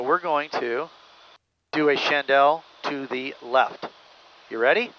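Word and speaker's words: Chandelle: chandel how do you say Chandal in Hebrew chandel correct chandel correct my friend correct here we go 270 we're uh we're doing good on speed and everything so we're going to do a chandel to the left you ready sounds good here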